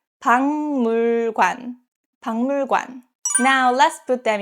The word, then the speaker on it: 박물관: Next, 박물관, museum. 박 ends with 기역 and next syllable 물 starts with 미음. So this case, 박 is pronounced as 방, 박물관, 박물관.